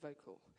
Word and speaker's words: Vokle: Well, for me, I'm really passionate about this great program called Vocal. And it's spelled differently. Help me. Vocal spelled Vokle.